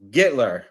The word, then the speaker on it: Gittler: Jesse Gittler, right?